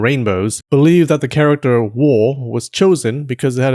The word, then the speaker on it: 倭: It's pronounced wo.